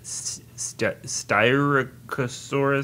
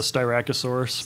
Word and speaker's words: Styracosaurus: So I think that the second species that we see of dinosaur in the film is, correct the pronunciation if this is right or wrong, Styracosaurus? The Styracosaurus.